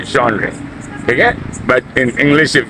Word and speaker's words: genre: sound very much because even the people who speak English they use the French pronunciation and say genre okay but in English